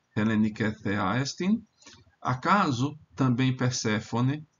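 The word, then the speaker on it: Περσεφόνη: Acaso também Perséfone, em latim vai ser Perséfone, porque esse é breve, mas o grego aqui é longo, então acento na penúltima sílaba.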